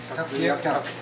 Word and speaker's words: Tuktoyaktuk: How do you properly say it? Tuktoyaktuk. Tuktoyaktuk. Tuktoyaktuk. Tuktoyaktuk. Yeah. Not Tuktoyaktuk. Yeah.